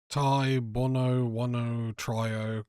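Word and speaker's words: Tai Bwo Wannai Trio: Tai Bono Wano Trio completed.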